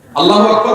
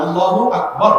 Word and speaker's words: আল্লাহু আকবার: আল্লাহু আকবার উচ্চারণ করার সময় আকবারের রাকে টেনে পড়া ঠিক হবে না? ঠিক হবে কেন? তাকবীরের সাথে বলতে হবে আল্লাহু আকবার, আল্লাহু আকবার, এরকম বলা যাবে না।